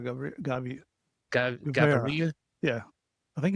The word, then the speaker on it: Gaviria: December 1st, 1949, Pablo Emilio Escobar, Guevara, right? Did I say that? How do you say his last name? Is it Guevara? Pablo Emilio Escobar Gaviria.